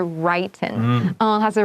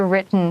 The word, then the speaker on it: written: 然后这里呢 handwritten 也是一个比较难的字因为它这边呢考试应该就会考，它可能就会考4个选项，就是什么 handwriting、handwritten。那这个呢，因为你在修饰这个 message，它是你备用手写的，所以记得要 handwritten，然后发音，它不是 written，它是 written，同学要小心。 You should write this down. So if you're my student, you know the short I and long I symbols. 你要告诉你自己，这个是短 I 的 written, not written.